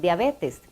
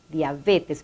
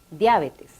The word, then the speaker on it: diabetes: decía usted esta dificultad la forma adecuada es diabetes con pronunciación llana diabetes vemos el énfasis y entre corchetes porque es una pronunciación aunque en algunos países de américa se escuche a menudo como esdrújula diabetes y es que la